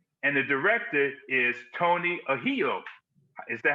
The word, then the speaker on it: Ahedo: And the director is Tony Ahedo.